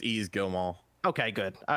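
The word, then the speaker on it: Yves Guillemot: you how do you say ease easy it's easy go Mall okay good all right that's that's what I've been saying I think or I said Guillermo gilmo either way I said you I he said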